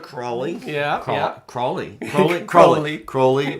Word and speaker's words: Crowley: Crowley rhymes with... Unholy.